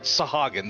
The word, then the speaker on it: Sahagin: So, she said Sahagin, so I'm going to go with that pronunciation. Okay. The first are the fish-like Sahagin, worshippers of the primal Leviathan.